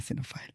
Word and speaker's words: xenophile: perks of being a copile I only learned this word recently yes so it's spelled x n o p h i l e I had heard xenophobe